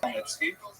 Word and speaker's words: Khmelnytsky: You may have seen his name in the literature spelled with a CH, a Polish spelling, Chmielnicki, but it's pronounced Khmelnytsky.